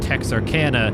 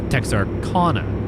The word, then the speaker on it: Texarkana: I've very frequently called Texarkana Texarkana. I've always kind of gone more the Kana pronunciation more than Canna.